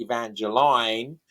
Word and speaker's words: Evangeline: So be Evangeline right different pronunciations but we know that that Longfellow pronounced it Evangeline because of the way he uses rhyme in the poem.